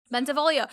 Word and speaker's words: Bentivoglio: Bentivoglio.